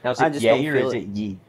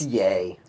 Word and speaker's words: Ye: and being like yeah it's yay how do you know because that's what he changed his name to yeah but how do you know that he doesn't pronounce it ye because I have heard him refer to himself as yet I just mess around